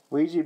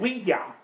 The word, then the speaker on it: Ouija: Ouija board. Ouija board. It's oui, the French word for yes, and ja, the German word for yes. It looks bad. Ouija is the actual.